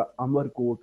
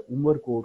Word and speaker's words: अमरकोट: वहाँ एक जगह अमरकोट है, जिसको आजकल मिस प्रोनाउंस किया जाता है, उमरकोट कहा जाता है।